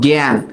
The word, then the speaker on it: জ্ঞান: এই যে দেখো জ্ঞান। আর এইটার উচ্চারিত রূপটা কি বলতো? একা। তাহলে এখানে আমরা দুইটা জিনিস দেখতেছি, এটার উচ্চারণ এর মতো হচ্ছে, আবার এইটার উচ্চারণও এর মতো হচ্ছে।